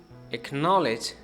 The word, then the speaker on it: acknowledge: to Q and K, so it loses its pronunciation a bit. So we should say acquaintance, acknowledge, and acquire.